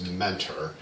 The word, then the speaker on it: Mentor: meaner well it's mentor but the locals call it meaner they don't pronounce the t um so yeah i'm